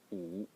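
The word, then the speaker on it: 五: The next character is number 5, pronounced as u. U in the third tone.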